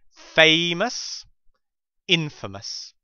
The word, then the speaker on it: infamous: cross a red line notice here the difference in pronunciation between the word famous and in Infamous famous Infamous spineless spineless means lacking in